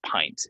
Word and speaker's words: pint: be served in in a pint glass it's pronounced pint and then two pints is a court um